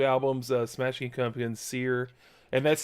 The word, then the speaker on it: Cyr: so those two albums uh smashing company and seer and that's spelled cyr um and i mean i thought it maybe it was sir from all the reviews i've watched it's pronounced spear um and then billy joe armstrong um no